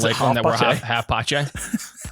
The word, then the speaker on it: HalfPace: half pache. Half pocket. Yeah. I've been doing a hard K noise.